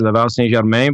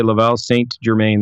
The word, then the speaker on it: Laval St Germain: Canadian accent, there's a three different ways to pronounce it. But French Canadian way is Laval St Germain, but you go ahead and just say Laval St Germain.